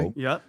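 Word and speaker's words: Turo: I think it's called Toro, if I'm saying it correctly. That's correctly. Toro.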